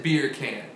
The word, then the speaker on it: bacon: It's bacon. But you pronounce it beer can.